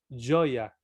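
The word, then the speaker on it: joia: No se pronuncia, ahí está una palabra portuguesa que es, se lee joya, pero se pronuncia joya, ¿no? Como doble L, joya, ¿no?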